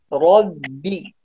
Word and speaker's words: رب: طيب يا أحمد نقول ربي الباء، هنا الباء ترقيق ليس تفخيم، لا نقول ربي ربي.